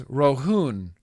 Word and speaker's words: Rohan: Rohan. Oh, really? Your neighbor's name was Rohan? Rohan. Rohun? Pronounced as Rohun. Rohan? Rohun. Oh, Rohun. Okay.